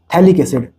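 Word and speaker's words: phthalic acid: इसको बोलते हैं थैलिक एसिड। P यहां पर साइलेंट होता है।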